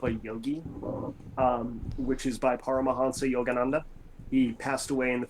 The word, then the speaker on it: Paramahansa Yogananda: It's a autobiography of a yogi, which is by Paramahansa Yogananda.